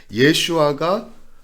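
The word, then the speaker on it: ישוע: 예슈아가 히브리어로 여호수아고요. 그 여호수아를 헬라어로 만들려면요 지저스가 되는 거예요. 그래서 예수는 헬라어식 발음이고 예슈아는 히브리식 발음의 여호수아죠.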